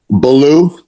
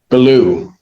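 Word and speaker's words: Baulieu: How is your name pronounced? Belaloo. Beloo.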